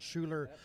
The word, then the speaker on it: Schuler: But down to my part of the world, south of Atlantic, I say it wrong anyway, Schuler. Okay, I was going to say Schooler, but Schuler feed wagons and vertical mixers and that type of stuff.